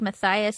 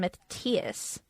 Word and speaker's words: Matthias: Maybe that's like Matthias and Matthias. Oh, fuck I hate that when people say too. Matthias.